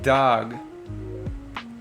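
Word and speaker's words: דג: Next up is dag.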